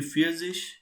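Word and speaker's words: vierzig: zwanzis 30 will be drivish 40 will be fierce-ish firmswish and likewise if i ask you what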